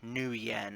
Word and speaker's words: nuyen: who just want your neuen nuyen is the type of money that's used worldwide um or new yen or but it's how you spell is how you pronounce it uh something needs